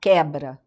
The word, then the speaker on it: quebra: Como quebra. Você tem o qu e o u você não fala, você fala quebra.